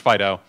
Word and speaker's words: FD.io: basically it's yo fast data FDI OH typically pronounced Fido and the scope of this consortium is actually